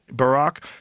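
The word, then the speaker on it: Barak: You know, Epstein with a smiley emoji asks asked former Israeli PMhad Barack, that is how you say his name, Barack, to clarify he does not work for the MSAD in a meeting with a senior Qatari investment official.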